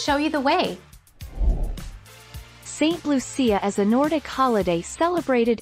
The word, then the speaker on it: Lucia: St Lucia, pronounced Lucia in Italian and Lucia in Swedish, was born in Sicily, an island of the coast of Italy, in the 3rd century AD.